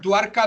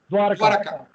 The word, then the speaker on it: Dwarka: Luego está Dwarka Dama, que es después de Ayodhya Dama, se